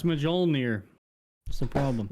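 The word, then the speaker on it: Mjölnir: Like Mjolnir, Thor's hammer is spelled like Mjolnir. Yeah, it's Mjolnir.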